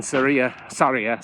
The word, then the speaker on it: Sarria: So the whole point of that is to make you feel guilty for starting in Sarria, is how it's pronounced, instead of starting at the beginning.